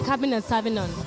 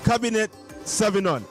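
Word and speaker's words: Cabernet Sauvignon: It's the Cabinet Sauvignon. Cabinet Sauvignon. Like, not like Cabinet Minister or anything like that.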